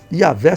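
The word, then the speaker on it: Yahweh: Yahé seria a pronúncia, eh, a melhor pronúncia, vamos assim colocar.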